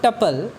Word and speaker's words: tuple: तो टपल्स, तो यू can think of टपल pronounced as टपल, टपल TUPPLE। RAM with कपल, जैसे कपल पढ़ते हैं वैसे हम पढ़ते हैं इसको टपल्स।